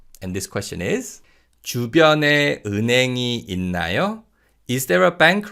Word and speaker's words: 은행: And you can hear that the 히읗 in the second syllable in 은행 is pretty much silent.